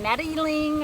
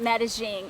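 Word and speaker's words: Medellín: was to medellin colombia some people call it medeling or meddling that it's really it's messy the locals say get that gene in there and the thing we loved about medellin is the cost of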